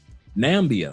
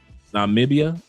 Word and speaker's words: Namibia: Nambia, I hope I pronounced that correctly. Namibia. Did I say it right? Namibia.